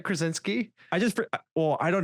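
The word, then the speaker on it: Krasinski: by John I always keep forgetting where his s is krinski I always have to get that ski at the end I was gonna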